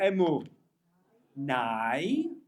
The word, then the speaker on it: Emunai: He says, Tzur Mishelo Achalnu, Baruchu Emu Nai, Savanu V'Hotarnu Kidvar Ado. Okay. So now it's meant to rhyme. How can Noi rhyme with Nai? It's not. It definitely isn't Noi the first time. It's Emunai.